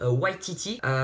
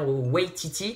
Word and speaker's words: Waititi: réalisateur qui est dans les plans, c'est Taika Waititi, si je le prononce bien, Waititi, qui a réalisé le film Thor Ragnarok, et